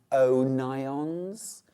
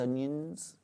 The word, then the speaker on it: O'Nions: No, it's pronounced O'Nions. Is it? Is it? Is it, though? Mrs. Onions. Yeah. They just slipped a little apostrophe in. Yeah. It's definitely not Mrs. Onions.